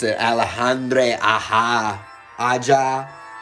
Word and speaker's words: Aja: gonna mispronounce it alejandre aha aja it looks like aha because it's aja he's a really good